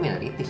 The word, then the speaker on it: Minor'ties: Jadi bacanya itu minor ties atau minorities atau gimana? Gue sih ngobrol sama ownernya, dia gue ngomong minorities sih. Minorities ngomongnya. Oh, minorities.